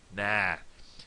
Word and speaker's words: ná: In the south, it's pronounced um rhymes with paw. No. P no no. But in the north nah.